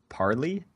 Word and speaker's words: Parley: next ability is called parlay i think it's parley it's parley you sure yeah okay i don't know i used the internet to pronounce it for me and it said parley but i don't know